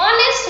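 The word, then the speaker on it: honest: हम देखिए यहाँ पर जो H है ये बहुत साइलेंट है, इसमें H का साउंड उच्चारण नहीं होता है, H का साउंड हमें सुनाई नहीं देता है। हम इसे आवर एंड ऑनेस्ट मैन बोलते हैं, इसका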